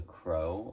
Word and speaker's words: Croc: Today's video is going to be on the Crow, or Croc as it's spelled, Universal Bag Clip by Goyard.